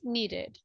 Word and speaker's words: needed: it here no right if the last sound is d is in the first category so you will say needed uh-huh do you have